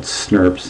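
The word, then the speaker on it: snRNP: an uh made up of these things called snurps this is how we pronounce this as snurp and this sn rna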